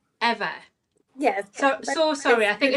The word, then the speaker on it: Ewa: And can I just double check it is pronounced Ewa? It's Eva. Eva.